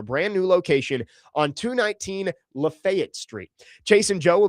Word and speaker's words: Lafayette: I heard Adam got some heat from Chase and Big Joe yesterday for mispronouncing Lafayette. It's Lafayette.